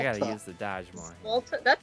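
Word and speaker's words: złoty: Can someone make a phonetic pronunciation of that for me? What does Wikipedia say? Ooh, I can listen. Let's listen. Zwalte.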